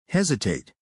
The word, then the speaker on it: hesitate: Word number four, hesitate. Hesitate. Sarah, can you break it down for us? Pronounced h e z i tate.